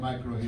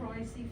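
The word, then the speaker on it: mycorrhizae: Okay, When you so add micro hazy can you to it. say how much of the micro, I can't pronounce that word. Micro hazy, how do you say it? Microicy fungi. Microizy fungi.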